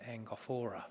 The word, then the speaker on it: Angophora: hangover drive malacuta and i would pronounce it angophra some people would pronounce it angophora but angophra is how i would do it so mr mcconnell